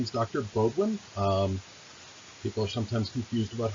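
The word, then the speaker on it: Beaudoin: My name is an anglicized spelling of a Swiss-French name, B-E-A-U-D-O-I-N. So the O in Bodwin is a long O because of its origins.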